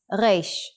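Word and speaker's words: ריש: The pronunciation of the Hebrew reish is similar to the French r sound. Try to make the sound from the throat, rolling the r as if you are gargling water. In print, Dvora is a bee.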